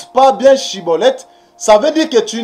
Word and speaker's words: Schibboleth: Donc, si tu n'arrives pas à bien prononcer Chiboleth, tu prononces Siboleth, cela veut dire que tu es un étranger.